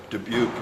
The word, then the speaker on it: Dubuque: That's why Dubuque is pronounced Dubuque and not Dubuque or something.